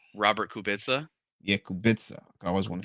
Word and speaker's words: Kubica: But shout out to I want to pronounce his name wrong. Robert Kubica.